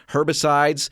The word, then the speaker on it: herbicides: I've always said herbicides, but I can imagine there's somebody saying, no, you don't pronounce the H. You don't say the H.